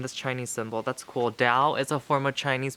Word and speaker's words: dao: chinese symbol that's cool dao is a form of chinese buddhism guys and oh i just love it it's spelled t-a-o but it could also be spelled d-a-o and it's spelled dao not tau that's so cool so